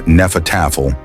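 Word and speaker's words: Hnefatafl: Henefel, pronounced nefatafle in case you want to impress someone at a renfair.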